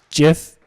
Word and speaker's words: GIF: following choosy programmers choose jiff choose gif or Jif question mark the pronunciation of gif is specified and the gif specification to be jiff as in jiffy rather than gif which most people seem to prefer this does